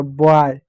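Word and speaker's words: buy: अगला शब्द है बी से ब हो गया। यू साइलेंट होगा और वाई से आई हो गया। बॉय बाय।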